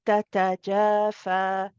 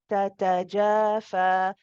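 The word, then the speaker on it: تَتَجَافَىٰ: So you want to say tatajafa, tatajafa. Make sure that the two ta's are given equal timing.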